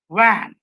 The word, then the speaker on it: van: When you say VAN, first word VAN, then it has to be like this, van. Now you see, my upper teeth is touching the lower lips.